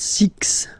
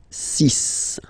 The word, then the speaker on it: six: be careful here because even if it's ending with this X well you'll have to pronounce it like s. Okay. So you get the sis pronunciation sis s c sis. Okay. So it's not six. It's sis.